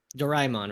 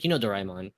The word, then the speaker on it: Doraemon: So, for example, like, Doraemon, right? That's how you pronounce like, Doraemon, the blue cat thing, right?